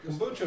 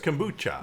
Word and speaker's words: kombucha: now but nope anyway kucho is good we apologize delicious with your avocado toast I love avoc not even pronouncing it correctly right it's kombucha Kucha like Sriracha sure Sriracha which you